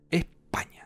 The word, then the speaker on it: España: la unidad de España España claro con acento en la primera O sea que es